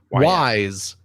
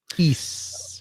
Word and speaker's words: Ys: much yeah yeah yeah Ys wise if you don't know how games pronounced that's what I called it when I was a kid East I played through East